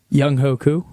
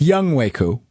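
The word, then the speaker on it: Younghoe Koo: Young Hoku. All right. So that is incorrect. It's Young Waku.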